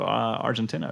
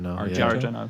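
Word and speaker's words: Argento: doing that at the time was probably Dario Argentina, right? Or is that how you say his name? Arjeno.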